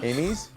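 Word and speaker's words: Amys: amos how do you pronounce how do you pronounce this a-n-y-s steamies no amy's that's how i say it okay amy's that's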